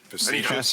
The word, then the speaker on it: facetious: Facetious. Facetus.